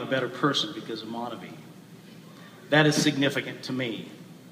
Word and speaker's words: MonaVie: while others pronounce the word monavie for me it will always be monavie the good life or